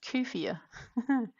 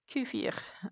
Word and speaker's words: kefir: Uh So, um apparently it's supposed to be pronounced kefir. Kefir.